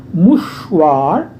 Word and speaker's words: mouchoir: मुशवार R है last में, pronounce करेंगे.